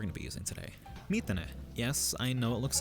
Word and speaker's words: 3tene: the app we're going to be using today methane yes i know it looks like 13 but it's pronounced meat in it meet the net is a free japanese v